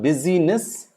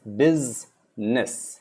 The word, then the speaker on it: business: the u becomes i the u b u s becomes biz and the i becomes silent the red color i is silent in the actual world biz it's not busyness it's bizness remember it is not